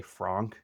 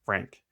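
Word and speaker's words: Phranque: Its name is Frank, which the way it's spelled it's almost like you'd say Fronk. It's spelled p h r a n q u e but pronounced Frank.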